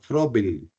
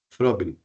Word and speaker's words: Froebel: a un pedag de apellido frel se escribe froebel sí frel frel hace se inventa